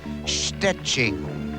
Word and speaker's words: Szczecin: Perhaps if only to teach people how to pronounce the name of her hometown in Poland. It's Szczecin.